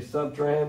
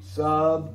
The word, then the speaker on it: subtrahend: it on your sheet, subtrahend, it has three syllables, okay?